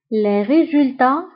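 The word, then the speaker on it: les résultats: فهنا ايضا لي ريزولتا تكتب بالت في اخر الكلمه ولكنها لا تنطق. وبالنسبه لهاد اس فهي اس نتاع البلوريال او نتاع الجمع. اما بالنسبه لكلمه ريزولتا فتكتب بالت ولا تنطق.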